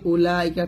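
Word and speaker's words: أولئك: উলাইকা এরকম পড়তে হবে উলাইকা তাহলে এরকম যত উলাইকা পাবেন এই উতে আপনারা টান দেবেন না এটা ভালো করে বুঝে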